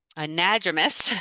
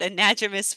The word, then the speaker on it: anadromous: fish passage, specifically fish that were an, a, anadromous, I think is how you pronounce it, anadromous fish.